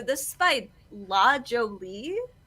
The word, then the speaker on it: La Jolie: This is by La Jolie, I think is how you say it. La Jolie Muse. Jolie, yes. French. Yes, ooh la la.